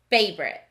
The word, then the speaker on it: favorite: column here we go favorite in this word we hear two syllables but the spelling looks like three syllables with an o in the middle that we don't really hear that's tricky so favorite